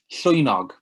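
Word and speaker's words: llwynog: be okay great so that is pronounced soy nog and that animal is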